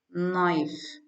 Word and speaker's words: knife: Li li like like n n key here is silent knife knife s s sight site